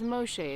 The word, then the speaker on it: Moshe: Yeah, Moses, his name is Moshe in here, which is how you would pronounce his name.